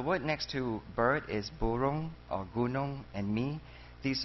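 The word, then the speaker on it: burung: The word next to bird is burong, or gunong, and mi. These are the same alphabets that are used to write 2 different languages. So there's English and there's Malay. So B-U, bu, R-U-N-G, rong, burong.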